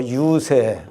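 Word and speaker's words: 遊說: 세치 입 가지고 가서 누구를 달래는 것을 세객이다 그러고 그러면 이것을 유세한다 할 때 다니면서 이렇게 달랜다 할 때 이것을 유설이라고 읽으면 안 돼요. 유세.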